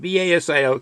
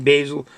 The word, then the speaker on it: basil: Anything with anything with basil and B-A-S-I-L. People pronounce that different. They say basil or basil.